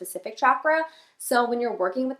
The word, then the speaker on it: chakra: pronounce the word so it is pronounced with a hard ch like you would say in chair so it's chakra in my yoga teacher training i learned that when you say chakra it actually apparently when